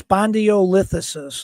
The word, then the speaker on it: spondylolisthesis: It says okay, it's spondylolisthesis. That's what the computer just told me. Spondylolisthesis.